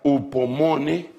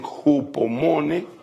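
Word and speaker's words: ὑπομονή: Esa palabra paciencia se pronuncia upomone, algunos dicen jupomone, otros dicen hipomone.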